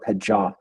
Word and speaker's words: pejah: bit about this word pejah, like he said. That's a great example too, because it's pronounced pejah, like the stress is on the second syllable, and that actually comes from a different form of the Sejm.